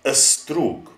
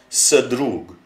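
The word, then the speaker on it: ստրուկ: So, a slave is a strug. So an a is pronounced before the s and the d and the r. It's not sdrug, nor is it sdrug.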